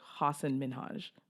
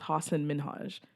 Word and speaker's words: Hasan Minhaj: to pronounce his name it's like Hasan Minhaj oh I know I always think that's not manoj because it just sounds like osama Najma it's hassan min Haj oh my god not